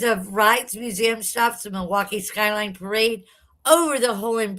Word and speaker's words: Milwaukee: Properly pronounced Milwaukee.